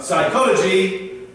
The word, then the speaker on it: psychology: Now, don't forget, when we're talking about academic topics like psychology, if it begins with a P, it's silent. We say psychology. Okay, so the P is silent.